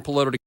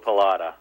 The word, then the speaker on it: Pallotta: Welcome Dan Polo. Hi Carrie. It's nice to be here. Thanks for having me. It's uh with a short o palatada.